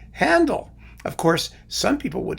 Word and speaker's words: Handel: that back in, but in English, it's just a regular A without any diacriticals, right? And you just call him Handel. Of course, some people would like to pronounce it Handel, which is, of course,